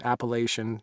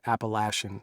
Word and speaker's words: Appalachian: It's Appalachian, not Appalachian. I don't care what you fucking say, and screw that college. I'm from there, and that's how you say it.